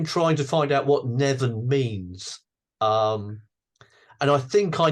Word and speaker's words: Neven: Neven. Yes, This that's how it's very pronounced.